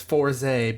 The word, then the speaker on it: Fourze: And it's Fourze because it rhymes with the Koze, and that was the